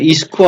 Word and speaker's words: IISCO: দেখি তো ইসকো আছে না টিসকো আছে? দাঁড়া দেখে নে। ও দাঁড়া আমি বলে দিচ্ছি, হ্যাঁ। এখানে এই যে কোশ্চেনটা বললাম না, কোশ্চেনটা বানানটা কিন্তু ঠিকই আছে, IISCO, ইসকো হবে, বুঝেছিস?